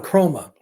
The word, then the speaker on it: Kromah: Usman Chroma, he brought up something that I'd forgotten.